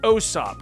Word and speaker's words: Usopp: But people were commenting that I was saying Usopp, and they're saying it's Osop. Now, when I looked more into it, it's basically Usopp. So it's basically U without over-pronouncing the U from what I could gather. So if I say Usopp or Osop, I'm going to try to kind of convert over to saying Osop, but basically it just